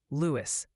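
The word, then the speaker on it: Lewes: Speaking of which, the good people of Lewis have formed a digital quorum to gently inform you it's pronounced Lewis, so please update your files accordingly. Lewis, I knew that.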